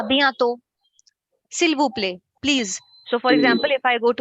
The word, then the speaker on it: s'il vous plaît: So s'il vous plaît, the l sound has to be pronounced because when I hear it in the movies, they say s'il vous plaît.